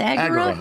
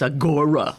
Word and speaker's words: agora: Agura. Yes. Cuz I know that word because I do crossword puzzles. I always I always thought it was agora. Okay. Agura. Accent on the first syllable.